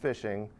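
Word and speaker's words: phishing: your information is a technique called fishing it's pronounced fishing but it is spelled with a pH at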